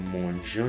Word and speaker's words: mangeons: It's to have a smooth pronunciation. That's why I would say, nous mangeons du riz, nous mangeons.